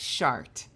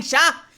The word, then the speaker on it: Shar: of sh of sh cuz I say sha because every else says sha in the game cuz they have accents and I'm going to keep saying sha and I'm getting [